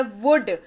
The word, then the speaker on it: would: हमारे पास वो है वुड, WOULD। पढ़िए, जब इसको एल को हटा दीजिए हो जाएगा वुड। स्पेलिंग इसकी सही जो है वो है WOULD, लेकिन उच्चारण क्या होता है, वुड, एल साइलेंट है, ठीक है।